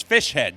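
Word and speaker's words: Fischer-Z: um the name of the band is fish head but if you like the song Good Luck Googling fish head because it's not spelled that way it's spelled Fisher Z for some reason uh f-i-s-h-e-r different word Z but uh they pronounce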